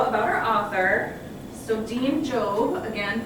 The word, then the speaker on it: Jobb: our author so dean jobe again pronounced like robe um as he has